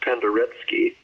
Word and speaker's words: Penderecki: Paul Glass was a student of Krzysztof, I'm going to say it the wrong way, Penderecki is how it's spelled, pronounced Penderecki.